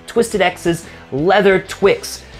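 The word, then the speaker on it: TWX: It's Twisted X's Leather Twix, spelled leather T-W-X, but pronounced Leather Twix.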